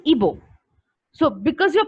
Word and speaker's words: Igbo: So the spelling is Igbo, but when you pronounce it, the pronunciation is Ibo. So because you're pronouncing it as Ibo, you should not spell it as IBO.